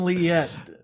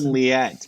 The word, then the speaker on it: Liette: tell me your last name how's that liette liette man I was trying to read the spelling it really messed me up so I apologize but Mr liette yes welcome to the show thank you